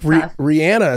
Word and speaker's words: Rihanna: We'll like Rihanna is how you say her name, not Rihanna.